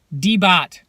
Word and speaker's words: DEEBOT: right there with the Debboot as far as, make sure I'm pronouncing that right. Yeah, DEEBOT. I've said Debboot the whole video.